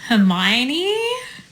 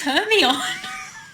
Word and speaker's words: Hermione: watching it and I was like what like Hermione where's herion Stitch this for the word that you read